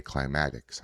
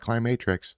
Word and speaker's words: Climatics: Because for some reason, you can't fucking say climatics. I don't know why. It's not Climatrix. There's no R.